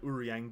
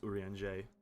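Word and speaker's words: Urianger: the characters names like before I knew how to pronounce uron I did not I I I died trying to say his name I was like urang uran G uran I just couldn't do it but now I know it's uran j apparently RS aren't a thing in the English language anymore or rather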